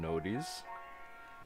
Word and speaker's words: noties: Now all that's left is send out some noties.